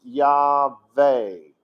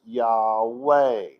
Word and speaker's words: Yahweh: along on the scene its name was pronounced yah vey it was not pronounced yahweh but over time as